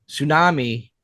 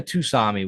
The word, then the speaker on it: tsunami: It made tsunami waves. Tsunami or tusami. Whatever you want to, however you want to go about that. I think both ways are acceptable on how to pronounce that word.